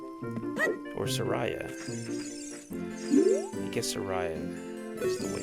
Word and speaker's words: Saria: Look, it's our BFF Saria. Or Soraya. I guess Soraya is the way it's pronounced.